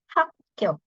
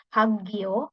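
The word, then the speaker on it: 학교: yang pertama ada sekolah hakyo Nah ingat tadi pelafalannya ya karena ada Giok ketemu sama giok e giok ketemu sama giok jadinya sang giok jadi bacanya bukan hagio bukan tapi hakyo hakyo kemudian ada Toan togan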